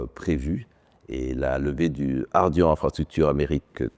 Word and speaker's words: Ardian: D'abord, il se prononce très bien en anglais, c'est un peu comme Guardian, Ardian.